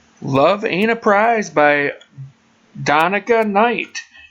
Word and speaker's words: Donica: Did you say it donia or how did you say it earlier? Danica. Donica. Well, that was close, but it's Donica. Donica. Like Monica with a D.